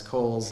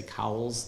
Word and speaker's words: Coles: jensen you might recognize cole's name uh and and i pronounce it kohl's because that's how he pronounced it but if you've always seen that w and had to say cowell's that's okay too but